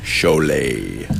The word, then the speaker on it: Cholet: And even though it doesn't look like Cholet, it is pronounced Cholet.